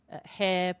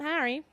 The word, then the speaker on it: Harry: on it and we would watch all the Harry Potter DVDs and at the end I would say who did you identify with in that and he would say hair Potter and I'd say first it's pronounced Harry